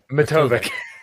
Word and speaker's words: Matovcik: Matovcik. That's all right. Yeah. Matovcik. There. Yeah. I usually spell it out for people because if I say